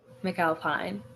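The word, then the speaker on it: McAlpine: Did I pronounce that right? McAlphine.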